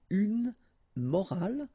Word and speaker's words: morale: the same way, but in that case you get this at the end, which is silent, so you don't pronounce it. So clearly it is the same pronunciation for the two words, but then in that